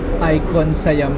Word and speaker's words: ICONSIAM: Icon Siam pala yung pronunciation.